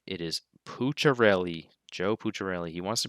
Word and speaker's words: Pucciarelli: is how you say his name it is pucharelli joe puccirelli he wants to be called pooch